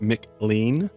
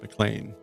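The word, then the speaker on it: McLean: there's a county up there that looks like Mlean, but it's pronounced Mlan, but it it's kind of like man.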